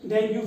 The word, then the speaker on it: डेंगू: Next is, इसी के मिलता जुलता एक और है जिसका नाम है डेंगू फीवर। इसे कुछ प्रोनाउंस में डेंगी भी पढ़ते हैं, डेंगी या डेंगू फीवर, दोनों वन ऑफ द सेम है।